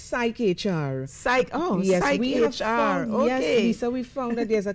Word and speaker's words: PsycHR: magazine how do you pronounce it it's spelt es y CH are its psyche HR psyche oh yes there's